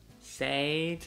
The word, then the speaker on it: said: Said, no es correcto, se pronuncia said, said, como S-E-D, said.